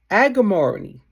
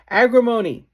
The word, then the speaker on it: agrimony: Agriamony. I mispronounced it. Agrimony.